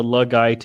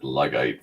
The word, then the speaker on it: Luddite: You're making me more and more into a Luddite every single day. Luddite. Luddite. I said Luggite for a second. I did. I mispronounced the word.